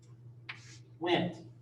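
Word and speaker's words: Wnt: they said all right let's make one name wingless and int went we can kind of pronounce that so the wind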